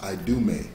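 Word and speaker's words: Idumea: i d u m e a it is pronounced i do me that's in the greek but that's the same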